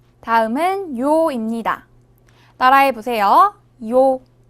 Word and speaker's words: 요: 요. 요는 먼저 이를 소리내다가 바로 이어서 오를 소리내며 발음합니다. 이와 오를 순서대로 빠르게 말해요.